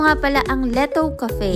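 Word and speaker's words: L'ETO: O nga pala ang Letto Cafe. Yes that true ganyan ang pag-pronounce niyan.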